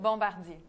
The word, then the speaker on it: Bombardier: Bombardier.